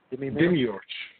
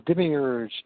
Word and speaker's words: demiurge: How did you pronounce it? Demiurge.